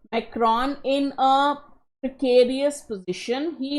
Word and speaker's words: Macron: Alright, the election results in France have put, I will pronounce this name the Indian and British way, not the French way, Macron in a precarious position, he must build alliances or risk more instability.